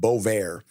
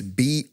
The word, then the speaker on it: Bovaer: So first one that I got here is this thing called Bovaer. Like Bovaer for bovine. It's Bovaer, the way it's spelled. It sounds like bove and air, but it's AER.